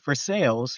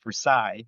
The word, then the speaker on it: Versailles: But if they know North for sales, you know, we pronounce it for sales and not Versailles, you know.